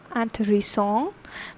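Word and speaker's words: intéressant: okay next is anthoresson anthony song which means interesting okay for femina and extra e is added over here and the pronunciation from anthony song changes to and three songs and three songs and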